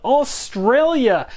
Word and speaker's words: AuZtralia: be unboxing a game called Australia and that's pronounced with an extra Z in there because I don't know